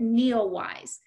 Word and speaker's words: NEOWISE: So it's called Comet Neowise. So if you just Google comet and it's spelled N-E-O-W-I-S-E and then type in NASA or astronomy, you